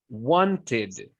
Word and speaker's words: wanted: If the letter of the word is spelled with a D or a T, we pronounce it with a separate syllable and we say id. Like when you say kid, okay? Wanted.